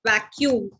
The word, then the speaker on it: vacuum: way not this way vacuum you pronounce it as vacuum and give an emphasis on c that is why you write double c how do you pronounce